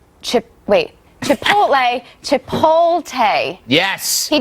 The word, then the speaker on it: Chipotle: Rubio because on special report I believe he pronounced Chipotle chip wait Chipotle to polt a yes he did it wrong